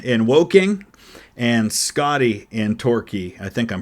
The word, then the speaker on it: Torquay: Jordan in Woking and Scotty in Torquay. I think I'm pronouncing that right. Torquay is how that's pronounced.